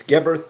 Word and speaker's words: Geberth: Commander Vernon Geberth, and I'm confident I have pronounced his surname right on this occasion. Am I right? Well, that's pretty good. It's Geberth, but you got it right.